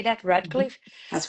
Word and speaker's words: Radcliffe: Radcliffe?